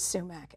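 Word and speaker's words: soumak: And in the Western, in the Western world, it's become pronounced as sumac, S-O-U-M-A-K.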